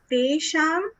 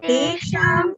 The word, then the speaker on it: तेषाम्: Tesham eva anukampartham. Okay, so Tesham eva anukampartham.